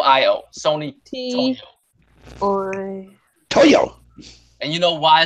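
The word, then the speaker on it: toio: o iio Sony to Toyo and you know why it's called Toyo Toyo is like how Japanese people say toy because for some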